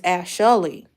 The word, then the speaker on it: Ashlee: When we was learning about syllables, no. Ashlee. I said it's Ashlee. Ain't it 3 syllables? She's like, no. The teacher's like, no, that's not right.